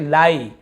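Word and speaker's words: lie: ही पढ़ते हैं जैसे लाई आईई लिखा है लेकिन इसे ली नहीं पढ़ रहे लाई पढ़ रहे हैं डाई टाई और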